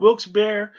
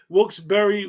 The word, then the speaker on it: Wilkes-Barre: you pronounce it three ways. It's called Wilkes-Barre, Wilkes-Barre, Wilkes-Barre.